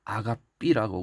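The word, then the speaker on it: ἀγάπη: 그 다음 마지막에는 사랑의 가장 극치를 보여주고 있는 한계를 뛰어넘은 사랑, 바로 아가페 사랑인 것입니다. 헬라어 원어로는 아가삐라고 그러는데 아가페라고 보통 우리가 발음을 하는 것이 바로 그 사랑의 근본적인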